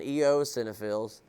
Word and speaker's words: eosinophils: Neutrophils, eosinophils, is how you say the E one, eosinophils, and basophils.